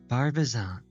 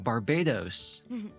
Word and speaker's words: Barbizon: Barbizon. I've told you the name enough times. You're saying it wrong on purpose, aren't you? What do you mean? Ah, I remember. Yeah, Barbados.